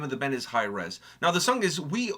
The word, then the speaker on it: HIRAES: comment section said that it's pronounced highres like high resolution oh which makes sense